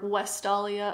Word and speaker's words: Vestalia: We do know that there was a festival dedicated to Vesta called the Vestalia, or Westalia, I guess, if you want to use the Roman pronunciation.